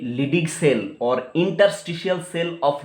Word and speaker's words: Leydig: LEYDIG, लिडिग cell, ठीक है? Very very important for the endocrine function of testis, ठीक है? तो देखिए ये लिडिग सेल और इंटरस्टिशियल सेल ऑफ लिडिग कहां पर रहेगा?